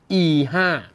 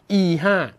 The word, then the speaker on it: E5: นะ ครับ เรียก ว่า E5 นะ ฮะ ต้อง ออก เสียง โน้ต ให้ ถูก ด้วย นะ ห้าม หัก ลง ต่ำ เด็ด ขาด นะ ครับ E5 หลัก การ ของ E5